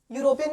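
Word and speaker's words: European: यूरोपियन की spelling है। ये ई से स्टार्ट हो रहा है। ये क्या है? वोवेल है। बट हम इसको प्रोनाउंस कैसे करते हैं? यूरोपियन। यू से शुरू होता है।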